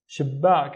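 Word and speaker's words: شباك: So we will need to pronounce it once with the previous syllable and once with the next syllable. And it would be shib, back. Shibbak, and shibbak, by the way, means a window.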